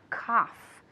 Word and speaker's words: cough: to cough exactly okay so remember the f sound at the end to cough all right and last